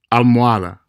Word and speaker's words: almohada: Notice the pronunciation of all these words. Hola, hora, hotel, hospital, alcohol, almohada. Notice that you didn't hear an H sound in any of those words.